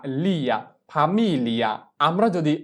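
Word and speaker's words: famiglia: তাহলে আমাদের জি কে এল এ মনে করে উচ্চারণ করতে হবে এবং এল এর ল উচ্চারণটা সম্পূর্ণ হবে না, হালকাভাবে উচ্চারণ করতে হবে। যেমন ফামিলিয়া, ফামিলিয়া, প্রথম ল এর উচ্চারণটা হালকা করতে হবে ফামিলিয়া।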